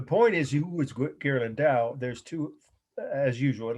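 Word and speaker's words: Ghirlandaio: you know the meaning the artist's name is gerland dao g h i r l a n d a i o gear lindau i'll spell it again g-h-i-r-l-a-n-d-a-i-o 1480 is the year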